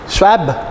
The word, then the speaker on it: Schwab: घर जाके इसके प्रोनाउंसिएशन में 10-15 मिनट वेस्ट मत कर देना. ठीक है. क्या है? SCHWAB, श्वाब.